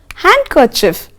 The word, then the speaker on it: handkerchief: Now, D is not pronounced in the following common words children. For example, handkerchief. So, many of us say handkerchief. No, it's not like that. It's you should say handkerchief.